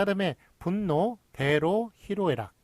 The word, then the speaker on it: 희로애락: 그래서 희노애락이 아니라 희로애락이라는 것. 요거 로가 잘못 쓰고 잘못 발음되는 것임에도 불구하고 예, 요거를 맞게 했어요. 그래서 희로애락, 희노애락 틀립니다. 희로애락이 맞습니다.